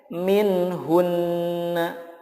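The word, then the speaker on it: منهن: qolqolah kan selanjutnya minhunna nah ketika waqaf dibacanya menjadi minhun gunanya tetap muncul nah yang berikutnya apabila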